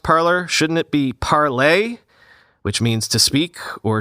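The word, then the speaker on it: Parler: website and an app the name was originally intended to be pronounced as in french parlay but is often pronounced as the english word parlor p-a-r-l-o-r meaning a reception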